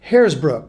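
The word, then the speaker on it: Hersbruck: Just so you know, not H-A-I-R. In fact, I wouldn't be invited to such a festival, but Haresbrook, spelled with an E, H-E-R-S-B-R-U-C-K.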